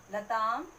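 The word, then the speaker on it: लताम्: नीचे देखिए लताम मीन्स आम, इसका उच्चारण हो रहा है आ की मात्रा का और माँ का, आधा माँ लगेगा। लताम, लते।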